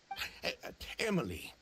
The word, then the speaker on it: Emilie: market response proved that it's pronounced Emily I I pronounce it Emily am I stupid that